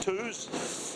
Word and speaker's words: Toos: It is how it's, you say it as it's spelt, Toos.